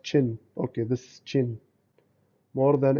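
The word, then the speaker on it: qin: chinese played the quinn this is called it's pronounced chin okay this chin more than any other instrument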